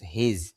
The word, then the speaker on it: his: আর খেয়াল করেন প্রথম যেই শব্দটা এইচ আই এস হিজ হিজ শব্দের অর্থ হলো তার এটা দ্বারা পুরুষ বোঝায় এখানে কিন্তু হিজ এর মধ্যে এস দেওয়া আর আইপিতে দেখেন হিজ জেট দেওয়া মানে এটা বর্গীয় উচ্চারণ